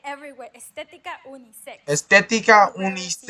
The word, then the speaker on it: unisex: X, K plus S. X. Por ejemplo, clímax, unisex o relax.